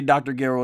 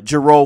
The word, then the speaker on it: Gero: ghetto could ever do I say Dr Garrow is how to pronounce in Japanese version uh gero for those who watch the FUNimation dub so you mean to